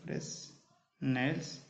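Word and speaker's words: Fresnel: S silent है, फ्रेसनेल्स बायप्रिज.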